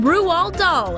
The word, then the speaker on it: Roald Dahl: This 2009 stop-motion animated movie was based on the famous children's story from Roald Dahl, and yes, that is how you say the iconic author's name.